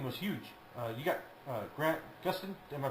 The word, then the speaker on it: Gustin: You got Grant Gustin. Am I pronouncing his last name right?